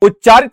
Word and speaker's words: उच्चरित: उच्चारित शब्द आपका गलत होता है। वास्तव में यह शब्द होता है उच्चरित। क्या होता है? उच्चरित होता है।